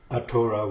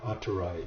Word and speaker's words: atora: And so atora, we don't pronounce the R's in our language, so we replace them with an L.